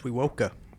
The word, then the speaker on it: Wewoka: No, you're pronouncing it right, bro. It's Wewoka.